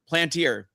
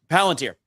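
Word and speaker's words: Palantir: Plantier. Is I don't know if I'm pronouncing right. Planter Palanter. Palanteer. Thank you. Uh Palanteer.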